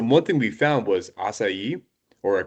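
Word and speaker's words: açaí: thing we found was asai or aai I guess depending on um I'm I'm not sure how Texans pronounce assai I say asai but I think some people say aai um these aai berries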